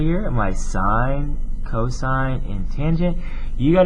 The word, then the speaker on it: sine: it as s i n and we don't pronounce it as saying we say sine right there o stands for opposite h stands